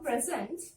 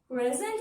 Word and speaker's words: present: So if it is a noun, you have to stress on syllable number 1, this part. Present. Present. If it is a verb, you have to stress on the zent. Present. Present. Present if it is a noun. Verb present.